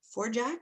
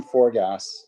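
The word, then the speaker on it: Forgács: you thank you hi it's forgas it's Hungarian pronunciation is a bit different in Hungarian but we won't go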